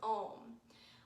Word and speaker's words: Om: chant the sound of ohm ohm is the sound of of everything that is it is ah its consits composed of three syllables ah creation ooh preservation and mmm destruction or return back to